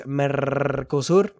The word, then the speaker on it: Mercosur: In trade news, the gigantic trade agreement between the European Union and Mercosur, roll your R's, guys, Mercosur, that went to...